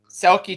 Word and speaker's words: Selke: Is that Selke? Selke trophy.